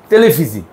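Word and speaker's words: televisie: পাশে কি আছে সরবর্ণ তাই ও জয়ের মত টেলিফিজি টেলিফিজি মানে টেলিভিশন তারপর কি উতে কি উনিফারসিটেট উনিফারসিটেট মানে কি ইউনিভার্সিটি উচ্চারণটা করেন একবার একটু দেখে দেখে উনি ফসিট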